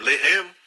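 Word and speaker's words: לֶחֶם: Mesma escrita, a única diferença é a pontuação. Eles colocam os pontos em diferentes lugares. Um é Lehem, o outro é Lahem.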